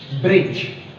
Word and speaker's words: bridge: Yeah, the other example is bridge. Bridge. So D is silent.